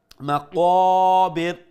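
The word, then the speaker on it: مقابر: Tumul, ma qa, qaf, is full mouth fatha, make sure you pronounce with a fuller sound and one alif long due to the alif madda. Ma qabir.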